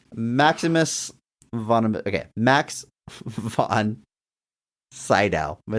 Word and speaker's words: Max von Sydow: alum of the show, Mark Strong Award winner Max Van Sandow. Max von Sydow. Jesus, man. You've Max massacred that. Von Segal. Did I say it right? What did I say it wrong? Oh, Jesus. Max Von Shadow.